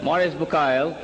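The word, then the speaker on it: Maurice Bucaille: scholar of quran dr maurice bukhail pronounced as maurice bukhai am i right doctor okay is a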